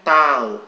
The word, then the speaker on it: tau: Oke, jadi ini tau, bacanya ini tau ya. Bacanya ini bacanya tau.